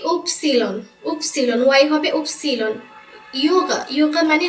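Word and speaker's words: Ypsilon: হবে জলফেন বাদ্যযন্ত্র বাইনে বাকা পা উপসিলন এটা হবে কি উপসীলন উপসীলন ওয়াই হবে উপসীলন মানে হচ্ছে যোগ্য আর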